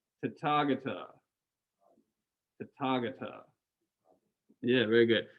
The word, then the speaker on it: Tathagata: So it is Tathagata. Tathagata. Tathagata. Yeah, very good. So the TH is not really a TH sound. It's more like a ta rather than a tha.